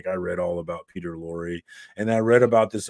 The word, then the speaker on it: Lorre: Is that how you say it, Lorre? Do you know what I'm talking about? Person. He was in Peter Lorre, yeah.